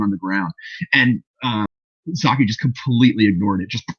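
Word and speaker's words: Psaki: uh cornered uh zapasaki i always like followed by an s so i just pronounced it was a silent piece saki um oh you're right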